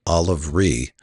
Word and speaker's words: Oliverea: The original pronunciation was Oliver Ree, as in rhymes with C.